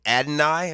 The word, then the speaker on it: Adonai: just go with ad I think it's Adonai is how you say his name ad o n a i Adonai but they call him